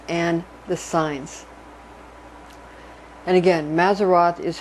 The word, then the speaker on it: Mazzaroth: And again, Mazzaroth is how you say as for zodiac.